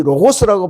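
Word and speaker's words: λόγος: 헬라어로이 로고스라고 발음되는이 말씀이란 단어를 사용함으로써 헬라 문화권에 있던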